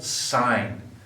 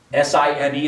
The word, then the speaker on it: sine: first ratio it's called sine s-i-n-e is how you spell it out but we use the abbreviation sin but you still read that you call that sine now the definition is